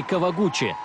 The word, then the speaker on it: Кавагути: Кавагути, или в японском произношении Кавагучи, заняв 4-е место, со слезами на глазах смотрела на призеров той Олимпиады.